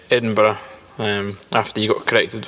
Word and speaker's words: Edinburgh: live near Edinburgh um I heard you pronounced it slightly differently um so it is said Edinburgh um after you got